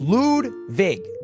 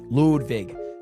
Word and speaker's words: Ludwig: My name is pronounced Ludwig. It's the correct pronunciation. I think my grandfather's German. I'm not sure. Ludwig. Guys, it's not spelled L-E-W-D. It's L-U-D-W-I-G. It's just pronounced Ludwig.